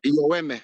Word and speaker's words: Yoeme: So Oh, that's so in our native is that the language, more proper Yoeme. way to say it then? That would be the proper way to say? Like, yeah. Yoeme.